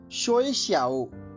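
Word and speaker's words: 学校: चीनी भाषा के अंतर्गत आज का हमारा पहला शब्द है शोई श्याओ। इसकी स्पेलिंग नोट कर लीजिए, XUEXIAO।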